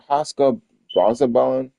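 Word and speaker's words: Oscar Brazobán: Uh, Oscar Brazabon.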